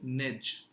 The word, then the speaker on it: neige: Again, if you see here, EI is becoming A. So neige.